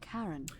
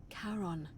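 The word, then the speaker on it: Charon: it's just as you described it only your pronunciation is a little off the name you heard wasn't karen a r o n as in caron the ferryman of the dead karon who in exchange for the right coin helps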